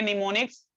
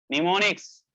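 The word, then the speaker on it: mnemonics: हाँ, देखिए निमोनिक्स, जरा देखिए स्पेलिंग, इसको पढ़ेंगे निमोनिक्स, लिखेंगे MEMONICS, निमोनिक्स।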